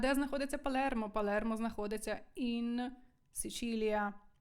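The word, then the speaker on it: Sicilia: Палермо Палермо знаходиться ін сичилія не Сицилія не Сицилія сичилія счилія наступне слово читаємо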